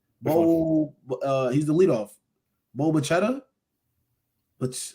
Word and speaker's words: Bichette: Bo Bichetta. But how do you say his last name? Bo Bichetta. On the Blue Jays. Oh, Bo Bichette.